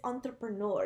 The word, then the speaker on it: entrepreneur: official correct pronunciation it's entrepreneur it's like the French official pronunciation it's gonna be relatable